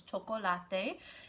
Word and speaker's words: chocolate: up the word chocolate the way it is said in spanish which is choco latte and there are four different syllables in the word so